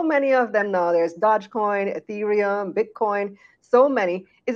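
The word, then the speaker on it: Dogecoin: ago that he's the dog how do you pronounce it dodgecoin and that's the value of the coin scoring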